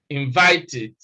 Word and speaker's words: invited: invited if you like invited because we said that when the e d past tense morpheme comes after the sound of t or d then it is pronounced eid eid id the same thing happens